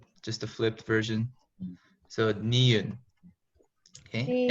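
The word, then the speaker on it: 니은: So niun. Okay, and it makes the N sound.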